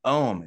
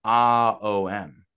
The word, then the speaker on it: Om: gonna do it actually it's not om it's ah-o-m oh um and then silence similar thing being shown